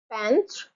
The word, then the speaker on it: peintre: Peintre, a painter, a neutral word. Perroquet, perroquet, perroquet, perroquet, a parrot. So you have peintre, 2 syllables, peintre, peintre, and perroquet.